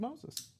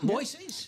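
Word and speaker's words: Moisés: Um and it turns out that it is it is indeed Moses. It's It's not Moises cuz I again, you know, you and I both came up with Moises aloo out there, right?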